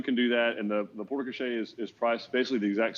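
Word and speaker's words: porte-cochère: So we have a question about building a porta cachet. Is that how you pronounce that, Eric?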